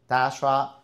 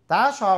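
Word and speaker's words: Dijkstra: So dashra routing algorithm dashra routing algorithm uh pass on the link st to have the routing algorithm.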